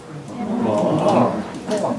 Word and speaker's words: man: I mean, there will be people in Belfast, especially Belfast, who would pronounce M-A-N as Mon. Who's your Mon? And that's where, and it's regular, it's before an N.